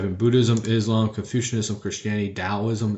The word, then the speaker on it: Taoism: Buddhism Islam Confucianism Christianity Taoism it's pronounced with the D and then Judaism so